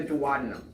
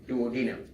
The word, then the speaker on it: duodenum: they jump all of their stuff into the duodenum or duodenum pronounced so when I give you the test